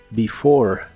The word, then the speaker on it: before: before que significa antes la primera e se pronuncia como I y la e del final es muda before before y usaremos las